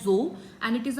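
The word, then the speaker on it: dzo: This is pronounced as जो एंड इट इज a cross breed between yak एंड काउ।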